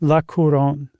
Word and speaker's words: La Couronne: Uh, how do you pronounce that, Josh? La Couronne. La Couronne, which is the crown.